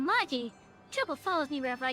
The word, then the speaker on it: Magi: Oh, you know Muggle! I read that name wrong. Oh, Yuta Magi.